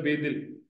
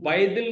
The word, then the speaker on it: बेदिल: मिसाल के तौर पर एक लफ्ज है बेदिल, मैं बेदिल हो चुका हूं, अब वो बाएदिल नहीं होगा, ठीक है, वो बेदिल होगा।